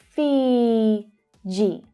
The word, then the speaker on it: Fiji: Fiji, Fiji. it's the long E vowel sound, Fiji. So the consonant sound, J, J, Fiji, Fiji.